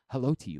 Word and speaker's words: Haloti: We're like, why does Stan say Haloti? Like why is that the case? And then as it turns out, like years later, Haloti Ngata was like, oh yeah, by the way, that's actually how my name is pronounced.